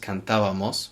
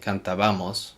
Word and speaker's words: cantábamos: It's pronounced cantábamos with the verb cantar, to sing. If I were to say cantábamos, it changes completely the sound of the word and what's called la sílaba tónica, the emphasized syllable.